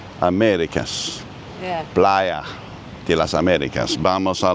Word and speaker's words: Playa: The fantastic view of Playa de las Americas. And please don't say playa.